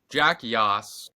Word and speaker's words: Yoss: Jack Yoss, which, do you ever tell people, are they like, how do you pronounce it? And you're like, just like Yoss Queen.